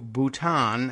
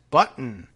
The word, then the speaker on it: Bhutan: And laughingly referred to Bhutan as button, according to two sources with knowledge of the meeting.